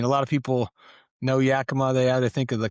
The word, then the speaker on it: Yakima: Yakima. Okay. How was that growing up? Yeah, so it's a small town or city in central Washington. I mean, a lot of people know Yakima.